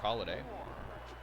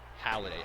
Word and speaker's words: Halladay: Six strikeouts for Holiday. Halladay, I have to remember to say his name properly.